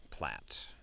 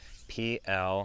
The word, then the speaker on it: plait: And when I started out whip making and I only read the word, I assumed it was plait. But for some reason, maybe because of like, I don't know, the French influence on the English language, it is pronounced plait, not plate.